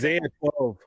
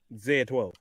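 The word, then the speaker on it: X Æ A-12: Musk naming his kid XAEA12, some weird Zeta 12. Zeta 12. No, Zaya. That's how I pronounce it. Zaya. Zaya. If you take the X and then the AE and then the A, Zaya 12.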